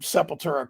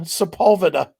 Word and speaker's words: Sepulveda: And you've heard Sepultura called that as well, haven't you? Oh yeah, absolutely. People are just dumb. Just look at the name and sound it out the way it's spelled.